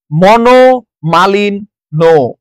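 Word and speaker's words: মনোমালিন্য: পদ দো এরপরে আসেন মনো মালিন নো মনো মালিন নো মনো মালিন নো নর সাথে জ ফলা থাকায় ন টা দুইবার উচ্চারিত হয়েছে নদী মাত্রিক নদী মাত্রিক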